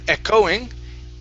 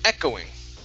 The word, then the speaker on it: echoing: Okay, instead of echoing, the stress is on the E, echoing.